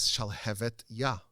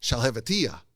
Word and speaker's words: Shalhevet Yah: The name of the book is Shalhevet Yah, which means the flame of God. And everyone would mispronounce it as Shalhevetiyah, which means nothing, which is just gibberish.